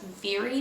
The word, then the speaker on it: Mhairi: If I Never Met You by, I believe her name is pronounced Veery McFarlane. It's spelled Mhairi, but I think it says Veery in the little author description.